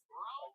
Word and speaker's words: Rhome: I live in Rome, Texas. My favorite barbecue joint is 407 Barbecue. Wow, 407. Yeah. That's also what your scale says. Exactly. Robert says, Rome, Texas.